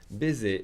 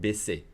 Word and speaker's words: baisser: Baiser is the verb, let's say, to screw, okay? So make sure you pronounce the double S with an S sound, solid S sound. Baisser, not baiser. Very different.